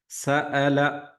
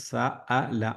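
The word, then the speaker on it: سأل: പാരായണം ചെയ്യുമ്പോൾ ശ്രദ്ധിക്കേണ്ട കാര്യങ്ങൾ സഅല സ അലിഫിന്റെ ഉച്ചാരണം തന്നെയാണ് വരേണ്ടത് സല സല സല പറയരുത് സഅല സാലുൻ എന്നുള്ളതും സാ സാഇ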